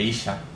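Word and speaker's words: אשה: y a la mujer, Isha, La diferencia entre estos dos nombres, entre Ish e Isha, es la letra A, que la A con la H, que no se pronuncia, y que en hebreo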